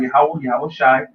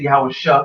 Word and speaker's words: Yahweh Shai: He's been, he knows about Yahweh Shai. He said Yahweh Shah because he didn't know how to pronounce it correctly.